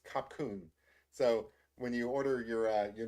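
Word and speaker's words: ขอบคุณ: So I looked up how to say thank you in Thai, and I'm probably going to mispronounce this, but it's I think it's kapkun.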